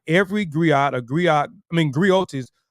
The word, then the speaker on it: griot: are in right so a gri right a griot is a unique western African uh W unique